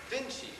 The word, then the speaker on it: Vinci: Well, they write it Vinky and pronounce it Vinci.